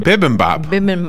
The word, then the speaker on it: bibimbap: bulb it's so hot actually how do you pronounce it vividly top bivin bibimbap oh my goodness it sounds like something you